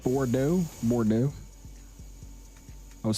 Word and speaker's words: Bordeaux: It's called Bordeaux.